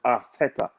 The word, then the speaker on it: Arteta: I was told that this is how you pronounce his name, Arteta.